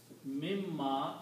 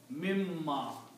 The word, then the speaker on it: مِمَّا: When you read these together, you will pronounce mimma. The mim sound, the noon sound will go away and mim is pronounced twice.